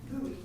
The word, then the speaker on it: Bowie: individual who signed in is Bowie did I pronounce that right buoy buoy okay good morning thank you